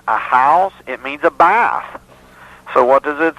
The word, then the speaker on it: Beth: It means a bath. So what does it say in Psalm 119 right behind Beth? Or Bath is the proper pronunciation.